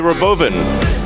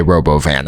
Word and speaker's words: Robovan: The Roboven. Why would you spell it? Robovan and then pronounce it Roboven when it is in fact a Robovan?